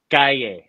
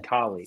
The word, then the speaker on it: Calle: By the way, Ben, it's pronounced Calle, not Kali. Sorry. I was just trying to mentally like spell it out of my head. I realized that double L's wide sound.